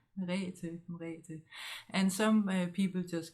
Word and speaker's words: Merete: I experienced that quite a bit, but it's pronounced Merete in short. Merete.